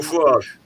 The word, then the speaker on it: Farage: The guy um I'm going to mispronounce his name. Is it Farage? Nigel Farage. Farage.